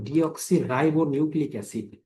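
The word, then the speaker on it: deoxyribonucleic acid: Dean এর পূর্ণরূপ হচ্ছে ডিঅক্সিরাইবো নিউক্লিক এসিড। স্লেবল ভেঙ্গে উচ্চারণ করবেন তাহলে খুব সহজ হবে।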